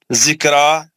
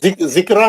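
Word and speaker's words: ذكرى: माल गुना हुर्फ वाव, जिक्रा फिर है खड़ा जबर है रा पर, जिक्रा नहीं, जिक्रो रा को मोटा पढ़ेंगे, रा पर खड़ा जबर है, दो हरकत खींचेंगे।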